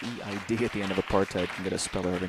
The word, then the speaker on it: apartheid: She's taking her time as much as anyone here Apartheid. tonight. Apartheid. Is there another alternate pronunciation? Yes. Apartheid is where we started. It can also be pronounced apartheid or apartheid.